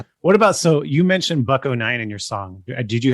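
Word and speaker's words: Buck-O-Nine: Buck-09 rhymes with Sublime.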